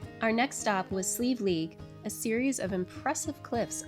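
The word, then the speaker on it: Slieve League: I should know better. I've been trained to say that and that it's still very tricky to say, especially the way it is spelled. The Sleeve League Flag Stone Mountain.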